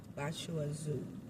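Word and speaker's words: Bà Chúa Xứ: Uh it is spelled B A C H U A Z I'm sorry X U. Bachu Zoo. Um, Bashu Zoo is among Vietnamese most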